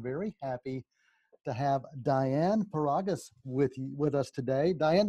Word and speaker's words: Paragas: to filmmakers i'm very happy to have diane paragus with with us today diane did i get